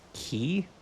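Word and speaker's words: Quay: to set sail for perig key that's key I would not have expected that to be pronounced key there there no way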